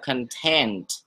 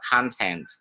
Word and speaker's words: content: Thật ra khi chúng ta đọc content, content, cái gì hình dung từ đó mà, thì các anh chị đang đọc tính từ của từ đó và nó nghĩa là thỏa mãn. Nếu như chúng ta muốn đọc nó là nội dung, chúng ta phải đọc là content, content.